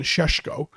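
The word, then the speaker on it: Šeško: uh for you know i would pronounce it again sheshko um makes a lot more sense yes cesco's younger you talk about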